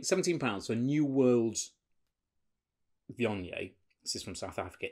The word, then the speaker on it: Viognier: Viognier. La lingua tra I denti. Tongue between the teeth.